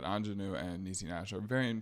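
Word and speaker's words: Aunjanue: Ingenue, that's a beautiful name, but the way it's spelled is not like the other word.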